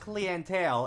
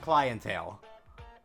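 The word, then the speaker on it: clientele: Wait, that word is pronounced cleantale instead of clientale.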